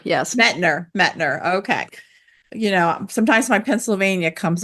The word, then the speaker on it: Mettner: Am I pronouncing that right? It's Mettner, yes. Mettner.